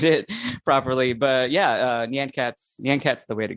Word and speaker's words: Nyan Cat: so famously made please give me the correct pronunciation on how I should say it yeah sure uh so it's Nyan Cats uh I know I know a lot of